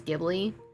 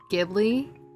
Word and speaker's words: Ghibli: I call it Gibli only because I get confused which is the right way to say it. Yeah, for some reason, um, Japan doesn't really do the G sound.